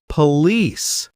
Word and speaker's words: police: Police. Stress the second part. Police.